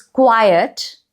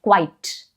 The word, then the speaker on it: quiet: Pronunciations are not the same here. People make mistake with the pronunciation, too. It's quiet and quite. You see? I'm rolling my tongue differently.